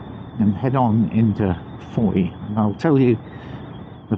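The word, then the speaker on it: Fowey: Heading towards the small and rather upmarket town of Foy.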